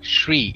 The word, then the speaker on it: Sri: mean it's it's not what is the correct pronunciation I've seen it's Sri Lanka no no no Sri Sri as in SH tree like she but an